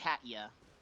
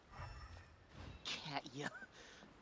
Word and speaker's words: Katya: Saying how their name is actually pronounced. Situation's not good. Katya. Katya. I prefer to call her Kathy.